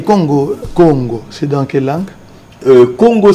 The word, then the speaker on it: Congo: Congo, c'est une contraction de deux mots pour dire Ko, c'est-à-dire issu de, et Ngo, c'est-à-dire l'emblème de notre pays qui venait du léopard. Voilà, Congo, c'est ça la meilleure prononciation.